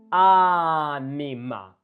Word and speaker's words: anima: Anima. Do you see that ni is short syllable? Anima. So this can be a little short, like long and short.